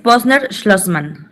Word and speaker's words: Posner-Schlossman: el síndrome de Posner-Schlossman, ¿este sí se pronuncia? Sí, es Posner-Schlossman.